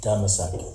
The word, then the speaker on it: Damascus: The real pronunciation for Damascus is Damasak.